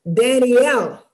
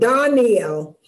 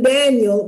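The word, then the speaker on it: דניאל: The first one is Daniel, and Danny actually is pronounced Daniel, because the A has a dark sound, Daniel, and that means God's judgment. And we know we call him Daniel, but his name has L in it.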